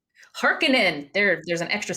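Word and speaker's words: Harkonnen: sorry what's their name hekinan there there's an extra syllable there's an extra K in there the heinens are on their tails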